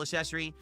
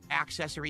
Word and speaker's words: accessory: We're third week in a row where we're now using this wheel accessory, excuse me, accessory because if I don't pronounce the the card uh you know C, people give me [